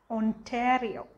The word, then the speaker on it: Ontario: of students is actually when i read as a discipline is ontario but it's pronounced ontario ontario right and that's um